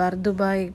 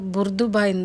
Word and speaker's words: Bur Dubai: அடுத்த நாள் பார்த்தீங்கன்னா நாங்கள் பர்துபாய் போகலான்ட்டு ட்ரெயினுக்காக டிக்கெட்டு இந்த மாதிரி தான் இந்த கார்டில் சார்ஜ் பண்ணிவிட்டு நாங்கள் போனோம். ஃப்ரான்ஸ்லேருந்து துபாய் போகிறவங்க எல்லாருமே பர்துபாயை வந்து புர்துபாயின்னு தான் ப்ரொனவுன்ஸ் பண்ணுவாங்க.